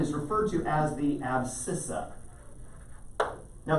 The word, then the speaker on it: abscissa: referred to as the abscissa now there's a silent c it's the sc combining so it's spelled abscissa okay but here in the month of february we don't want to encourage anything so abscissa is how it's pronounced